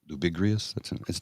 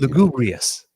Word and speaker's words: lugubrious: I may have said it wrong, but you know the term I mean. Lugubrious. Lugubrious. That's it. Is it? Yeah, I think so. I think it's lugubrious.